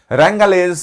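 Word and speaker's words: wrangle: angry वाद विवाद करना रंगल डब्लू साइ साइलेंट है इसमें रंगल डिस्प्यूट एंगली वर्सटाइल हमने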